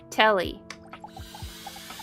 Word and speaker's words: Telly: Before we get to I have names, based Telly. taste, it Rhymes said with Nelly.